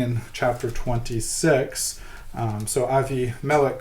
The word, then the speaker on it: Abimelech: chapter 26 um so avi melek called isaac and said i'm saying avimalic it's the hebrew pronunciation abimelech the king the philistine